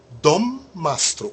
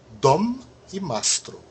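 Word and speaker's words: dommastro: penúltima sílaba é u Dom mastro os dois M são pronunciados Dom e mastro vocês vão ver que é uma combinação de palavras aí mas ambas as palavras originais elas elas ainda se representam sonoramente malonga veja os dois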